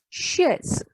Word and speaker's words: chaise: CH, in French, CH never pronounced as ch. It is always pronounced as sh in French. So it is chaise, chair, chaise.